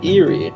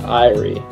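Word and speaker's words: Eyrie: before your feathery foes the Eerie arrives I think it's the irie actually I think that's how it's pronounced all right so I'll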